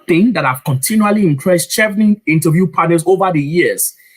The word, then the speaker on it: Chevening: Babe, I've had different versions of Chevening in my life, right? Chevening. I mean, a lot. But Chevening.